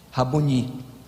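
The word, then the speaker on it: Rabboni: Qual é a pronúncia certa, Cardoso? É Rabone ou Raboni? Raboni.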